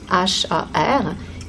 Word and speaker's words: Har: Nous allons utiliser le mantra Har, H-A-R, qui va se prononcer avec la pointe de langue au palais, ce qui signifie que le son va peut-être sonner comme quelque chose Har, Har, donc peut-être comme un D, puisque nous avons notre langue au palais.